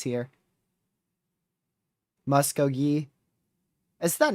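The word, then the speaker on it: Muskogee: Someone wrote the pronunciations here. Muscogee. Is that not what I was saying? They know what I mean. Muscogi.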